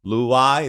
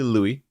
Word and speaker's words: Loay: but when it comes in when we converse Loui it's like so you can call me Louie okay I said in the US so many